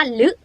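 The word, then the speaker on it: ฦ: รือ อ้า ต่อ ไป ตัว นี้ หัว อยู่ ด้าน นอก เหมือน พอ สำเภา เลย ออก เสียง ว่า ลึ เหมือน รอ ลิง นะ ลึ ลึ สุด ท้าย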